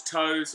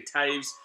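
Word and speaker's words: Toews: first heard his name, thought it was Toes. Well, not when I heard it. When I saw his name, obviously T-O-E-W-S. If you go and try and say it right now, you'd think Toes. But no, it's actually Taves.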